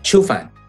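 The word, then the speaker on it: Qiufan: What a brilliant idea of basically taking a well-known science fiction author, Chen Qifan. Is that how you say his name? Qifan? Qifan.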